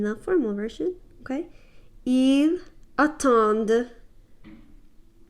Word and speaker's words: attendent: Notice the emphasis on the D. Elles attendent. Okay, so you notice that even though it's spelled D-E-N-T, you don't quite say like dent. You don't pronounce it like that. You just put a really good emphasis on the d sound.